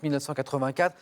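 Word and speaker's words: 1Q84: trilogie trilogie dont le titre écrit un cu84 mais ça se prononce 1984 a connu un grand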